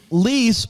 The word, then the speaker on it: Lease: Lease rhymes with please. Okay, Lee's.